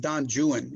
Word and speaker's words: Don Juan: But I want to start by this quote from Byron, from Don Juan. It's actually pronounced Don Juan in English literature.